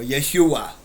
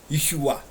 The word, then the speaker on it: Yeshua: There is no pronunciation for J. His name is Yahw or Yeshua. Yeshua.